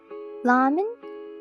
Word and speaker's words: ramen: In Japanese, it's ramen. I said ramen, ramen, because the R can't be pronounced as like R sound because Japanese doesn't have that vowel.